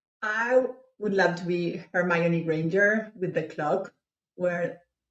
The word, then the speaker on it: Hermione: in the movies they pronounce it Hermione, so I think you said it right.